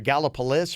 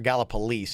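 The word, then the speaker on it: Gallipolis: I was there and I think there was two different ways it was either gallopolis galap police and I think we said galap police they're our big rival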